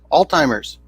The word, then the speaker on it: Alzheimer's: Alzheimer's. The memory loss bullshit. Yeah, it's Alzheimer's. That's what I said. There's no D. It's Alzheimer's. Alzheimer's. It sounds like you're pronouncing a D in there.